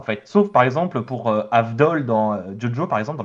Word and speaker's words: Avdol: En fait, mais ils prononcent jamais le V, en fait. Sauf, par exemple, pour Avdol dans Jojo, par exemple, dans le jeu Bizarre Adventure, on ne dit pas Abdol.